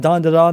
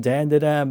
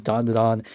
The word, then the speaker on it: Dandadan: It is just phenomenal from front to back, and I'm pronouncing it Dandadan now. I used to pronounce it Dandadan, but I heard that it is Dandadan, and that is how it's pretty much pronounced